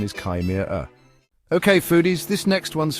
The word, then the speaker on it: chimera: And speaking of mouthfuls, the pronunciation of chimera is often a beast of its own. Some people go with chim-er-er, while others prefer kim-er-er.